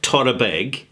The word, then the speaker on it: Torabhaig: Isle of Skye called Chorravaike. Now, you can pronounce it Torabeg, right? Chorravaike, Chorravaike, however you want to pronounce it, so long as other people understand, it's just fine.